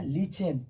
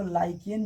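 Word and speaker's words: lichen: इसको लाइकेन भी कहीं कहीं कहा जाता है, लाइकेन भी कहते हैं। सीबीएसई वाले बच्चे लीचेन बोलेंगे, ये प्रोनाउंसिएशंस के कारण होते हैं।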